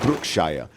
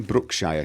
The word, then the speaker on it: Brookshire: Speak with Brookshire. Why does he say his name Brookshire? Surely it's Brookshire.